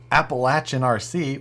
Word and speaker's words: Appalachian RC: Appalachian RC, which is how you say that gentleman's YouTube channel name.